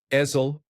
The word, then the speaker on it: Ezel: Ezel, pronounced like pretzel, but he will supply the purr.